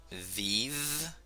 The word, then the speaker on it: vive: Eso se pronuncia v. En español se pronuncia b, pero en creol se pronuncia v. Como un ejemplo tenemos vive, vive.